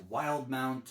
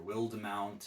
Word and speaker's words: Wildemount: Based on his first campaign, The Explorer's Guide to Wildmount, or Wildemount, however you want to pronounce it, is an adventure module that also carries a few character options in it.